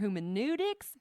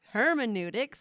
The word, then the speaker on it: hermeneutics: research or quantitative research or phenomenological research or humanetics hermeneutics that's how you say it anyway there's all